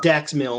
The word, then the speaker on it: Dax Milne: Dax Milne.